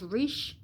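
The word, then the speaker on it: resh: all the letter B pronounced Rish r-e-s-h and meaning head for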